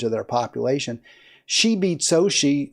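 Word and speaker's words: Xóchitl: She beat Xochitl, that's pronounced, I thought it's like Xochitl, but it's Xochitl Galvez, who was a self-made woman, started a tech company.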